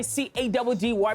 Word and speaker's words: CADDY: It's your boy C-A-D-D-Y, pronounced Caddy, yet again on another mission.